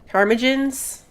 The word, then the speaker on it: ptarmigan: There's a bug right now where the new birds, the ptarmigans, however you pronounce that, I think the P is silent.